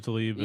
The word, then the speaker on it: Tlaib: It's Rashida Tlaib and Jamal Bowman.